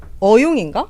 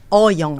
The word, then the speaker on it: 호영: 이거 발음 잘못하면 어용인가? 네. 어용? 어용인데 어용. 어용으로 될 수도 있잖아요. 맞습니다. 정확하게 어영. 어영.